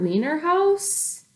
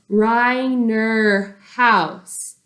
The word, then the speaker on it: Reiner: Leiner house all the kids are snickering especially st. James its Reiner house my name is mr. Rai her house it's pronounced Reiner house and you Robert can